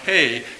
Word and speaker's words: He: And second and last character is pronounced He, meaning window or to be seen.